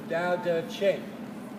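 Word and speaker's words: Tao Te Ching: pronounced Dao d-a-o the word t is is pronounced like a d so the Dow does shape it's a pretty interesting book if I were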